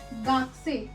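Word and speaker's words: がくせい: Japanese में student को बोलते हैं गाक्से, गाक्से। यहाँ पे यू साइलेंट है और यहाँ पे लॉन्ग साउंड है।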